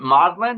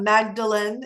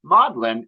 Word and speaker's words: Magdalen: part of the Oxford um universe is that Maudlin is how you pronounce it yes it's not Magdalene it's modern yeah exactly it's funny you should